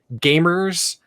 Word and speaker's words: Gvmers: I've been mentioning Gamers, spelled with a V, Gvmers.